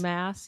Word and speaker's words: Maas: Maas. Mass, yeah.